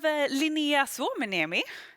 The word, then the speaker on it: Linnea Suomeniemi: We have Linnea Suomeniemi. Is that how I say it? Yes, correct. Actually, a very good pronunciation.